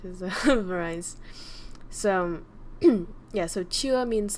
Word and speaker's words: chưa: And this one you can say it like, so it's chưa. I wonder what it sounds like. It sounds like chia seeds, but it's not chia seeds.